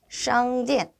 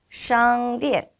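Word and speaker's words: 商店: 건설음이기 때문에 샹디엔 하실 때 SH 발음 주의해서 발음해 보도록 하겠습니다. 따라서 읽어보도록 하겠습니다. 샹디엔, 샹디엔.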